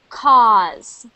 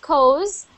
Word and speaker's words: cause: you say that one for me that is cause not cos cause cross yep so when you see a